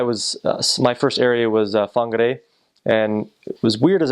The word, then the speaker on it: Whangarei: And I was my first area was Whangarei, and it was weird as a missionary because the way that you think that it was an F, WH is pronounced F.